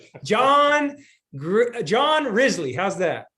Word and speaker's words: Risley: me john john risley how's that ridgely very good because john's last name i didn't know how to pronounce it so he said it's just just think grizzly and take off the g exactly i don't know